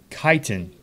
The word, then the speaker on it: chitin: see what that okay you guys ready Titan Titan okay perfect I was off so that makes its chitin that makes a heck of a lot more sense and sounds a whole lot better than the way I was pronouncing it so so chitin so we